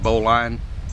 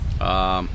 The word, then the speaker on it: bowline: ways to tie that, and I've heard it pronounced different ways, like bowline, bowline, but we'll refer to it as the bowline knot.